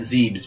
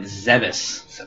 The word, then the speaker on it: Zebes: What I was saying earlier is that I always thought it was pronounced Planet Zeebs, because before Metroid Other M came out, they never had any vocals, really, like regular talking in a Metroid game. Yeah. And it's pronounced Planet Zebes.